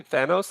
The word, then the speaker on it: Thanos: I always pronounce Thanos, Mm-hmm. and I hear people say Thanos. Like, no, it's Thanos.